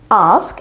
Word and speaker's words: ask: pronounced in in the incorrect way the right pronunciation is ask and if you follow the phonetic symbol of